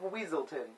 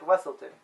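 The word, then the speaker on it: Weselton: He calls himself the Duke of Weaselton, or he says it's pronounced Wesselton.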